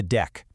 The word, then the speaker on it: deque: And a quick tip, you usually just pronounce it deck. You know, like a deck of cards.